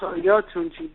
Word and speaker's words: Oyotunji: But it's, and it's Oyotunji. It's pronounced Oyotunji.